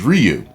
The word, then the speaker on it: Ryu: that it was produ correct pronunciation is Ryu does that discredit me